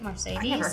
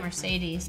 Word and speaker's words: Marcedes: how you say it marcedes it's not like Mercedes but it says Mercedes Lance kindreds I like